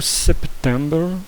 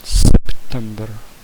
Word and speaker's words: September: O September, você vai pronunciar o P. Então é bem parecido com setembro, só que tem um P no meio. September.